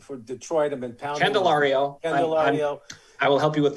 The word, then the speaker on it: Candelario: Jamier Calladero for Detroit. I've been pounding. Candelario. I will help you with pronunciation.